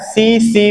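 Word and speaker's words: tsetse: एक मक्खी होती है जिसका नाम है सीसी फ्लाई टी यहां पर आपको साइलेंट है पैरासाइट के रूप में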